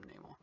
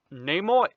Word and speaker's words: Namor: I know he pronounces his name as Namor, but everyone else calls him Namor.